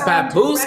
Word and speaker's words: Papoose: Papoose, is that how you pronounce it? Yes, Papoose girl is pregnant with the couple's second child.